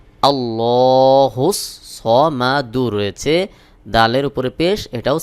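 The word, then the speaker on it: اللَّهُ الصَّمَدُ: এটাও সাকিন হয়ে যাবে সহি উচ্চারণ হলো আল্লাহুস সামাদ আল্লাহুস সামাদ আল্লাহুস সামাদ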